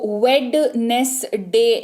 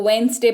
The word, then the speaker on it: Wednesday: अगला है WEDNESDAY, यहां पर भी स्पेलिंग में आपको एन के पहले डी दिख रहा है, तो इसको वेडनेसडे नहीं पढ़ते हैं, इसको वेंसडे पढ़ते हैं।